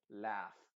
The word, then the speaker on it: laugh: Pero acá se dice laugh. La U es completamente silenciosa.